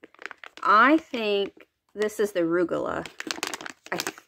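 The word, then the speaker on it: Rugelach: I think this is the Rugula. Rugalash?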